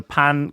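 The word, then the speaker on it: ปัง: So pan comes is is a bit like pan is in like pan of chocolate.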